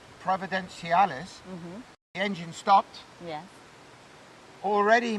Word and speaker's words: Providenciales: I then left Puerto Plata, and about an hour later, 80 miles south of, how do you pronounce this place? Providenciales. Providenciales.